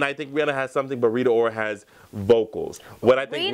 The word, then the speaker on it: Rita Ora: wig next up uh Rita Ortiz Rita or oh he didn't even say her name right that's the sh that's the shade already I was going into it Rita Ora Rita Ora the thing that we'll